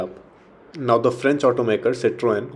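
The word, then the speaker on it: Citroën: Now, the French automaker Citroen, or as the French people pronounce it, Citroen, have been in the news for the newly launched mass market C3.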